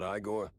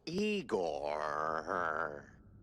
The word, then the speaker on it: Igor: I'm E I not Igore. No, Eigor. Why so many Rs? It's harder to pronounce, as the classics would say.